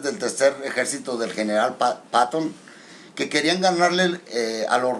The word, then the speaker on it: Patton: O sea, ellos querían tomar Berlín para pasar a la historia, pero que el general Patton, o Patton, pero más bien se pronuncia Patton en inglés, sabía bien que Berlín era el gran botín.